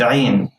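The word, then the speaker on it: عين: Ain has no counterpart in English. So I'm going to give you a few tips to pronounce the ain correctly. First, you have to keep your mouth open wide as if you are smiling, like this.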